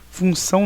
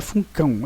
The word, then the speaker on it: função: Função não é funcão, é função.